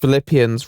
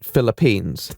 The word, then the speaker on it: Philippians: well and good well I think it's pronounced Philippians rather than Philippines there's a difference between the sovereign state and the New Testament book anyhow pronunciation aside their